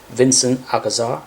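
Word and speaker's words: Vicente Alcazar: And to my surprise, because I never paid much attention to, Vincent Alcazar, that's how you pronounce his name.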